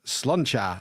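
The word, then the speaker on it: sláinte: He says, pronounce sloncha and is Irish for cheers, Nick.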